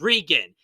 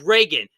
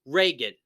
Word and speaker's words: Regan: It's like, have you not even like Ronald Reagan?